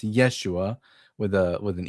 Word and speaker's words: Yeshua: The pronunciation Yeshua is debatable. It's not. The the letter it's it's the shva. The the schwvah is underneath the u, and the shva makes a very slight a very slight e sound.